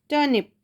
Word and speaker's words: turnip: टर्निप, यहाँ पे लिखा है टर्निप। ओके, आर साइलेंट है।